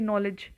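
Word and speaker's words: knowledge: और किए जाते हैं देखिए नॉलेज नॉलेज में कहीं भी के की साउंड आ रही है नहीं क यहां पर मुख वर्ण है और डब्लू और डी भी मुक वर्ण है आप देखें तो नोलेज ठीक है फिर आता है नाइफ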